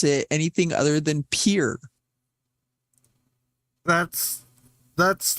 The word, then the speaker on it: Pierre: if it is French you pronounce as if you are English mispronouncing a French word what's the capital they call it peer here it's it's Pierre it's p-i-e-r-r-e it's literally